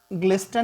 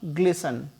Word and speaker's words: glisten: इसे हम ग्लिस्टन नहीं प्रोनाउंस करेंगे, इसका प्रोनाउंसिएशन होगा ग्लिसन।